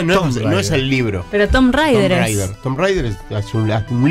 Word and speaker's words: Tomb Raider: es el libro pero Tom Rider Tom Rider Tom Rider un libro que no como ustedes quier para se escribe t o MB entonces Tomb Raider como Tom está bien no importa